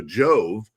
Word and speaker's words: Jove: Dimmy Yak Yak part, but Jove is pronounced like Joe. So Jove Dimmy Yak Yak in Batangas, Philippines.